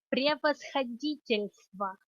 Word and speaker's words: превосходительство: Okay, so it has the soft sign in there. If it did not have it, the word would sound like превосходительство. So it's a version between L and L. So it softens the L.